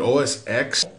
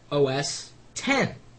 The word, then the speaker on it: OS X: The pronunciation of OS 10. And I've heard many people say it's OS X. And it isn't.